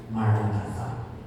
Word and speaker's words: Maranatha: is our official mantra, Maranatha. And we all know what it means. It means, come Lord. And we will repeat this silently, interiorly, as 4 equally stressed syllables.